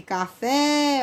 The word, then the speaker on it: café: No caso de café, ó, o Fê aqui é quem se estica mais.